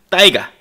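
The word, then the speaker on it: тайга: 빽빽한 쏙 이를 우리는 타이가 라고 부릅니다 이 타이가 아닌 러시아 시베리아의 울창한 침엽수림 들을 일컫는 러시아 입니다 현재 러시아 현지 발음을 하면 따위가 요 겁니다 따위가 침엽수 는 같은 종류의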